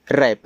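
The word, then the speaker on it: wrap: डब्ल्यू आर ए पी W silent है। रैप रैप का मतलब होता है लपेटना।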